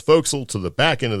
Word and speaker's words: forecastle: Yeah, because by then we had gone from the pointy end of the ship, which is called the forecastle, and it's spelled that way, or what we called forecastle, to the back end